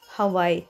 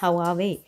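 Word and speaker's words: Huawei: तो ये है हवावे की, जिसको अक्सर गलत प्रोनाउंस कर रहे होते हैं, हवाई। नो, इट्स नॉट हवाई, इट्स हवावे।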